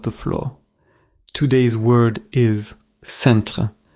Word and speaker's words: centre: Today's word is centre. Say it with me. Centre. In French, the final sound is clear, like the English word center.